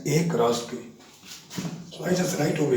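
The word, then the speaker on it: A × B: So you don't have to pronounce it as A into B because the Cartesian product of two sets is read as A cross B.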